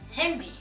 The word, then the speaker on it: Handy: i said that properly the next word is hindi that's handy so it's actually spells like handy